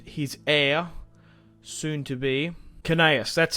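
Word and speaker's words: Gnaeus: And his heir, soon to be, Canaeus, that's how you say it.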